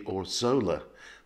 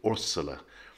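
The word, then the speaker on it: Órzola: is can you see there's an accent on the first o so that's telling you that's where the push should be now normally with spanish the push is on the penultimate cinnabot syllable so you would expect it to be or zola but it's actually ursula and the other thing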